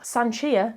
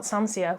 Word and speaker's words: Sanchia: Sanchia, not Sansia, which I think I said in my TBR, helpfully it has a character explain how to pronounce the character's name, which I always love.